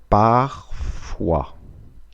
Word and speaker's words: parfois: Слово «иногда» переводится как «parfois». «С» не читается. «Parfois». Кстати, «о» и произносится как «ва». «Ва». «Parfois».